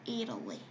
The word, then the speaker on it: Italy: 이것도 영어로 읽을 때 이탈리아라고 읽지 않아요. Italy라고 했습니다. Italy.